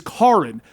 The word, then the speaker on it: Karin: Like one of the guys, his name is Karin, but it's spelled Karen.